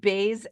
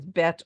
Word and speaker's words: Bet: Ashkenazi would be Bays and Vays. And the Sephardi tradition, which is Bet or Vet.